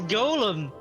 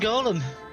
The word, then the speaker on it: Golem: That's because the Pokemon is pronouncing it correctly. It is Golem. The iguanas were from 2. Gotcha. Yeah, the Pokemon's literally just named Golem.